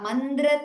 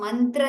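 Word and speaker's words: मन्द्र: careful ल प्रसिंग इट इट्स नॉट मंत्र तंत्री नर इ इट मंद्र दंत्री ी शल by mistake we shall pronounce it differently so B clear it इ मंद्र इट्स द देर एंड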